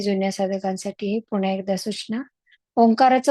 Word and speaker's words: ओंकार: साधकांसाठी पुन्हा एकदा सूचना ओंकाराचे उच्चारण करताना आपण तीन स्वरांमध्ये करत असतो तीन अक्षर आहेत अचा उच्चार त्यानंतर उ ओटाचा चंबू करून आणि मकार आहे ओठ मिटल्यानंतर होतो असा हा तीन अक्षरांनी बनलेला ओंकार आहे जे आपल्या संपूर्ण पृथ्वीचा